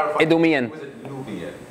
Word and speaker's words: Idumean: Well, I say it Idumean. Idumean.